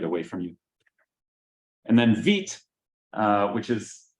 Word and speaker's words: Vite: And then Vite, which is pronounced Vite because it's like the French word for fast, not Vite.